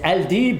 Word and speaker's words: Aldeeb: oui dites-moi j'ai juste une question comment se prononce votre nom alors moi je m'appelle et al diib ou Alb al di ça veut dire les